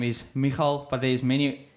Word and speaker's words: Migael: His name is Migael, but there's many pronunciations like Migael, as the English people say. Yeah. But his name is Migael.